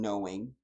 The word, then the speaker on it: knowing: used to say that the k is silent in knowing as an indicator that